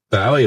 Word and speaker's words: Bowie: Uh, I always thought it was Bowie cuz I thought, well, it's a Scottish name. Must be Bowie.